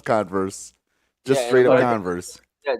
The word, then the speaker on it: Converse: right converse converse converse yeah that's how you pronounce it okay that's that how it's pretty out it's no it's converse just straight up converse yeah just say that